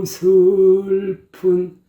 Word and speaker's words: 구슬픈: 구슬픈 벌레 소리에, 그래서 그 구 발음은 입술을 바짝 오므려가지고 구슬픈 구 발음을 확실하게 내줘야 돼요.